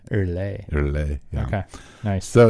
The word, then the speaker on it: Earley: Not early. Earley.